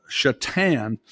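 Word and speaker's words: Šatan: a I made this exception yeah uh Miroslav chatan which is spelled SA T yes I do have a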